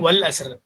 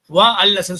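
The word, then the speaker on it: والعصر: So நீங்க படிக்கும்போது first படிக்கும்போது அல் அசர், வா அப்படின்னா வல் அசர், வா அல் அசர் சொல்லக்கூடாது, வல் அசர் இல்லையா, வல் அசர் இல்லையா.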